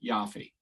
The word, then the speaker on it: Yaffe: Please join us in welcoming Yaffe. welcome to the CPG Guys podcast. Did I pronounce your name right? I forgot to ask. You did. No, that's perfect. Rhymes with coffee.